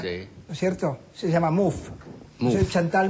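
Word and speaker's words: Mouffe: Se llama Muf. Soy Chantal Muf. Sí, lo pronuncio bien.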